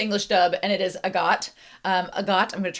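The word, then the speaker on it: Agott: I should pronounce uh Agot. Agot instead of I got it. It is agot. Um I watched the English dub and it is agot.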